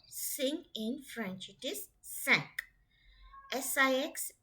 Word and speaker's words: cinq: So it is quatre and CINQ, sank.